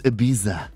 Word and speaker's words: Ibiza: The correct way is Ibiza.